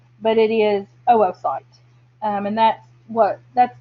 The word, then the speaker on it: oocyte: i know that looks like it should be pronounced oocyte but it is oocyte um and that's what that's the technical terminology